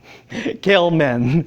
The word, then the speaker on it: Gell-Mann: from the success of, I learned how to pronounce his name. Gell-Mann, success of Gell-Mann in predicting existence of this particle and how to produce it.